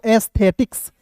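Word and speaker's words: aesthetics: फिर देखिए यहाँ पे ए ई एस टी एच ई टी आई सी एस, तो क्या पढ़ेंगे दोस्तों, एस्थेटिक्स। क्या पढ़ेंगे दोस्तों, एस्थेटिक्स पढ़ेंगे, यानी कि सौंदर्य शास्त्र होता है इसका हिंदी।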